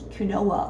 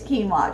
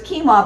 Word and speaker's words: quinoa: It almost looks like it's spelled like you would say kunoa or what. I never used to say it, but it is quinoa just in case you've never said it out loud so you don't embarrass yourself at a party with friends.